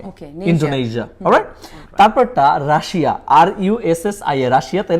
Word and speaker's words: Russia: তারপরটা রাশিয়া, RUSSIA, রাশিয়া, তাই না? হ্যাঁ। এটা কি আপনি সত্যি বলেন তো, জানেন কিনা এটার কারেক্ট প্রনাউন্সিয়েশনটা কি? আমি রাশিয়াই সবসময় শুনছি। আচ্ছা, এটা রাশিয়া না, উচ্চারণ হচ্ছে রাশা।